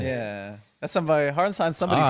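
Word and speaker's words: Hartenstein: Hardenstein, not Harkenstein, Hardenstein.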